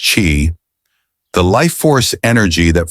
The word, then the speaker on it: qi: Take, for instance, the concept of qi, pronounced chi, the life force energy that flows through everything in the universe.